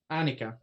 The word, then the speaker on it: Annika: Iquin, for my own use to torture you, is it Annika or Anika? Annika. Annika. The correct pronunciation would be Annika, but...